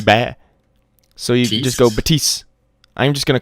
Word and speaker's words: Baptiste: him back because the apparently the P is silent so just be bad so you just fill batise I'm just gonna call